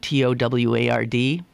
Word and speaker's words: toward: by my pronunciation of T-O-W-A-R-D, I'm saying toward, like T-O-R-D, and I have it on very good authority that has absolutely the correct pronunciation, because when I took